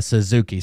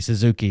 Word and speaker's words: Suzuki: you guys put inflection on it is a Suzuki Suzuki is the Japanese oh okay um right so